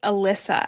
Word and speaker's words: Elysa: Because I just want to make sure I'm pronouncing it correctly. Yeah, no problem. It's Alyssa actually. And my actual name is, but everything I do has always been my middle name, Alyssa.